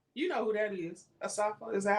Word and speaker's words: Asafa: Asafa?